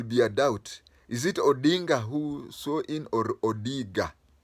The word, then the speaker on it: Odinga: to mispronounce his name instead of saying odinga he said odiga that was deliberate it